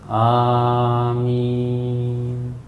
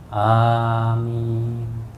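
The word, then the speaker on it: آمين: Kita langsung ucapkan waladdallin, amin. Perhatikan Pak bacaan amin. Amin, ya. Cara membacanya adalah A itu 2 ketuk, min itu bisa sampai 6 ketuk.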